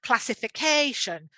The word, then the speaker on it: classification: in the word so here we've got the example classification so you can hear there's a stress on the first syllable and the same for